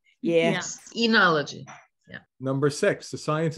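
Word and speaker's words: oenology: making is C oneology enology the O is silent yes enology yeah number six the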